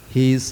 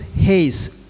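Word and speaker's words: εἷς: So the word used over here, one mediator, the word is Heis, H-E-I-S, equivalent to English Heis, you can say, pronounced as Heis.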